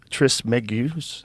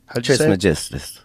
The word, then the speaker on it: Trismegistus: Though attributed to the legendary Hellenistic figure Hermes Trismegistus. How do you say it, bro? Trismegistus.